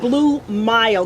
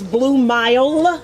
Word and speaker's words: Blue Mile: And that's Blue Mile, because we don't be pronouncing words in our community, but it's Blue Mile with the M-I-L-E.